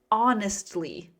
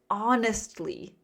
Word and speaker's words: honestly: Honestly. Honestly. The H is silent. It sounds like awe, like awesome.